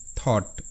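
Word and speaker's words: thought: থট টি এইচ ও ইউ জি এস টি থট টি এইচ থ ও ইউ জি এস টি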